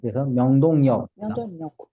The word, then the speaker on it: 명동역: 될까요 명동 여기는 아침이 리을이 아니에요 너가 생각해라 명동역 명동역 영동역 이렇게 변합니다 자 그러면은 이것도 한번